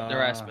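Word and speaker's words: Nerasmun: How do you spell that name? Riazan? N-E-R-A-S-M-U-N. N-E-R-A-S-A-I-M? S-M-U-N. S-M-U. All right, I got that. Narazman? Yep, Narazman.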